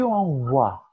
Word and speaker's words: envoie: Oui, et tu vois que le E est complètement muet. On ne prononce pas. Tu envoies.